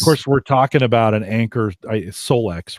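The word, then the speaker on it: Anker Solix: course, we're talking about an Anchor Solex, right? Is that how they pronounce it?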